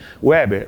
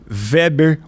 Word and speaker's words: Weber: Segundo ele, é alemão e aí você tem que pronunciar Weber. Né? Mas é Weber.